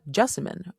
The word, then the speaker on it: Jessamine: Now, I tend to tell people that Jessamine rhymes with specimen but with a J.